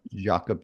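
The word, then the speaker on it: Jakob: mean cro said crout Spell Jacob disease is yakup disease yeah say it right but um disease causes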